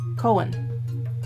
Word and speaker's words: Cohen: Cohen. H is silent.